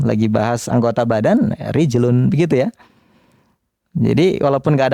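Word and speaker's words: رِجْلٌ: oleh orang Arab dengan muannas yadun tangan ya rijlun kaki.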